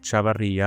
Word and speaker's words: Chevarria: My name is Chavaria. I know I pronounce it in Spanish, but sorry for butchering it.